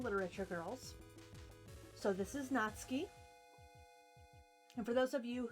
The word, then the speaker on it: Natsuki: Natsuki it's funny cuz they spell it Natsuki but it's actually pronounced in Japanese not ski we also got Yuri